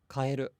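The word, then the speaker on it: 変える: But then if you say the word for change, it's kaeru, it's flat.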